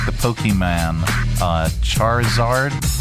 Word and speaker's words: Charizard: I don't see pronounce Charizard. Is that it? Char Charizard.